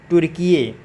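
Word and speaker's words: Türkiye: इसका जो नाम चेंज हुआ है, ये नया नाम इसका हुआ है, आप इसका स्पेलिंग भी याद रखेंगे, TURKIYE, तुर्किये।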